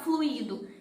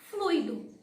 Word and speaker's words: fluido: Se ela fosse fluido, o I do hiato, ele estaria acentuado. Então, eu falaria fluido, porque o acento indica a sílaba tônica. Porém, como o I não está acentuado, eu não posso falar fluido, eu tenho que falar fluido.